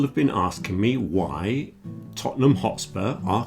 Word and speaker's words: Tottenham: We had a lot of Manchester United fans and Tottenham Hotspur fans, pronounced Tottenham, which was certainly very interesting from an anthropological point of view.